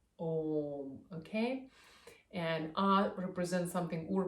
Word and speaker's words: Om: And here, anybody who studies Sanskrit, you'll know that A, U, M represent the Om, okay? So normally it's pronounced as Om, but here for the